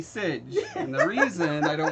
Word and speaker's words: Sidj: Mostly because people were pronouncing it, when they saw it the old way, they were pronouncing it siege. That's how I was pronouncing it. I right. thought that was my name! No, I want it to be Sidge.